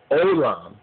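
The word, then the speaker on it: עולם: The Jews say Olam. They pronounce that oin R, they pronounce it as a O sound because of the nuka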